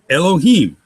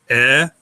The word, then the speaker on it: Elohim: Elohim, again, consonant vowel, consonant vowel, consonant vowel, consonant. So it's open syllable, closed syllable. Elohim.